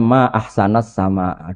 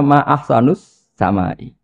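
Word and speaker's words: ما أحسنَ السماءَ: Mestinya bacanya ma ahsanasama dui begitu indah tapi dia bacanya ma ahsanus samai.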